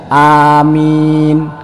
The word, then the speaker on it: Amin: yang penting bacanya bener Amin huruf alifnya panjang huruf mim nya panjang Jadi kalau ada orang